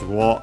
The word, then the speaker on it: を: I yeah, because we want to keep uh the names of the Pokémon uh in this uh case, but yeah, nickname from English nickname.